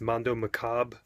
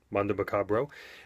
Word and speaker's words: Mondo Macabro: I believe they're pronounced Mondo Macabre, Macabro. Mondo Macabro, and this is their Blu-ray.